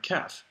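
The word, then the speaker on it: ك: ka'ak, features the letter kaf, which sort of looks like the number 5 here. Here's ka, ka, ka. It's just like the English K sound, and that's a ka'ak.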